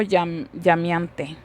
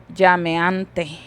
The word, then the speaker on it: llameante: La e la pronunciamos en i. Yo dijera aquí fuego llamiante. Y literalmente se deberá de pronunciar fuego llameante.